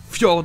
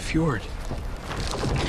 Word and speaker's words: fjord: Et enfin, dans des mots originaires d'autres pays, ça peut être le son ye, comme dans le fameux Hallelujah, qui vient de l'hébreu, ou dans le mot norvégien fjord. The fjord.